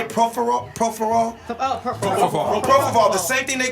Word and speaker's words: propofol: Propofol.